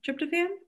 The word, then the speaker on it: tryptophan: and i still can't say it right tryptophan tryptophan correct yes yeah there's a lot of thought